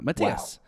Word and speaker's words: Matthias: my name is pronounced closest to," and then he's written in katakana, Matiyasu, but dropping the U from su. Wow. Matthias.